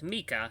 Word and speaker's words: Micha: Micha. I've been mispronouncing his name. So it's Micha. It's Micha.